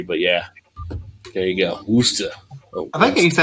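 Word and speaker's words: Worcester: 15 pounds uh yeah wooster best way to pronounce it for true central mass folks is wooster i can't remember if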